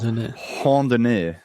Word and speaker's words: randonnée: It's spelled like randonneur, but I looked it up on YouTube and it was like randonnée.